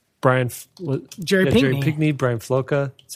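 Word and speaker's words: Floca: who else like like Brian Jordan pigmy Brian felucca that's how you say his name yeah but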